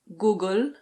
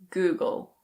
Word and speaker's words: Google: It's not "Guh-gel". It's Google.